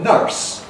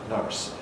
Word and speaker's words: nurse: plus an R, nurse, nurse, which is what the spelling suggests, nurse. But in American English and in the west of England, the R coalesces with the vowel to give you nurse, nurse, and you get an R-coloured vowel, nurse. Well, that's a strange sound, and in English, we've simplified things by losing that R coloration, leaving behind our nurse, nurse, nurse.